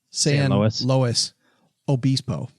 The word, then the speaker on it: San Luis Obispo: Well, no, that's the way it is pronounced. San Luis Obispo.